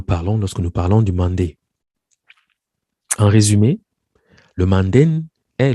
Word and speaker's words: Mandé: Alors, Delafosse indique que le terme mandé, menden, mandi, manding, est prononcé mané ou Mani par les habitants du Wassoulou, Malé ou Mali par les Soninké, donc c'est la forme usuelle que chacun connaît.